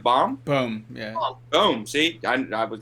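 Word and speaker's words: Bohm: Boom, yeah. Boom. See, I was gonna get it wrong, so I asked. It's just a hard O.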